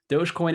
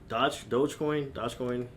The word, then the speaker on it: Dogecoin: But as far as cryptocurrency, the is it Dogecoin? Am I pronouncing it correct? Dogecoin.